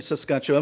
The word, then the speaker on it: Saskatchewan: No, it's so what was it like growing up in Saskatchewan? Am I pronouncing that correctly before I carry on? Is that the right way of saying it? Yeah. Impressively, you're doing really well.